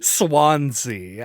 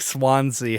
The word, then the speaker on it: Swansea: I looked up, how do you pronounce this? Apparently it's like a Welsh town. Swansea.